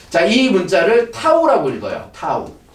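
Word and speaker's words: τ: 자, 얘는 이제 나타내는 거는 이제 얘 얘 자,이 문자를 타우라고 읽어요. 타우. 어, 타우라고 읽고.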